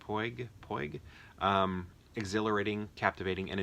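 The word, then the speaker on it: Puig: Claudia Puy, how do you say that? Pig.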